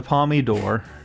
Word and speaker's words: Palme d'Or: I know I can't pronounce this correctly. The Palme d'Or. Yeah. The Palme d'Or.